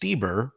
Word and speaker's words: Stoeber: I I think it's cool that the bio is pronounced Steeber, pronounced she/her.